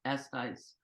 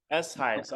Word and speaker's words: Eshuis: My last name is pronounced Eshuis. Eshuis. Okay, Yeah, gotcha. but my publishing is Tunes, and my Reverb account is. So you didn't get it wrong. I'm just giving you the Dutch pronunciation of it.